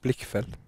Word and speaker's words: Blichfeld: Vi diskuterade det här precis innan, hur du uttalar ditt efternamn, och det visar sig att alla har sagt fel en hel säsong. Ja, men det på danska är det Blickfeldt.